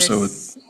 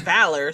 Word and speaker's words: Valar: I didn't make it up, Valar. Rick, what did you do? I thought it was Valor, so like that's where I was.